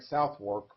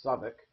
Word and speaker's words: Southwark: Down here, if we look at it looks like Southwark, but from what I understand, it's actually pronounced Southwark, or Southwark, I guess.